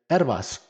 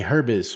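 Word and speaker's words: Herbas: my last name is ervas not a lot of people can say my last name because it's spelled h-e-r-b-a-s um they say herbis or they make fun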